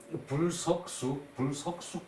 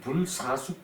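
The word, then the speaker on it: 不射宿: 불석숙 그러는데 그냥 불사숙 그럽시다.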